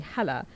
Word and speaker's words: Hala: 8th grade, 7th grade, because Hala is such a hard thing for that strong H sound doesn't exist in English and people would always mispronounce it and all that.